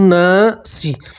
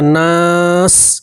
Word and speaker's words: ناس: ٹھیک ہے۔ برب بن ناسی، اگر آپ یہاں وقف کر دیں گے تو سین کے نیچے زیر ہے، زیر کو ہٹا دیں گے اور سین کے اوپر جزم پڑھیں گے، تلفظ بنے گا ناس، کیا پڑھیں گے؟